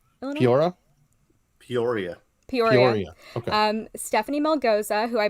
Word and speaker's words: Peoria: So it happened in, I can't pronounce it, Peoria, Illinois? Peoria.